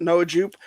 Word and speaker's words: Noah Jupe: You know, it's Noah Jupe, right? I'm saying it right. Mhm. Noah Jupe.